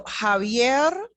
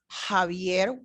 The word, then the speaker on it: Javier: So Javier, Javier, why am I saying Javier? Because when I see La Jota, which is the name in Espanol, my brain is telling me to produce this sound that I know in English.